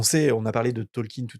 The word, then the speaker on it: Tolkien: En anglais ça se dit Tolkin. En fait, en français, on dit Tolkien parce qu'on le lit Tolkien, mais en anglais son nom se prononce Tolkin.